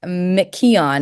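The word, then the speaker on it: McKeon: favorites and her name is Nicole I always pronounce it wrong but it's m Keon it's m c ke o n and she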